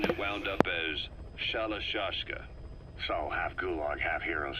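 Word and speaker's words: Shalashaska: the time I got to hearing about it pronunciation that wound up as shallow shashka saw half gulag half hero's sword is a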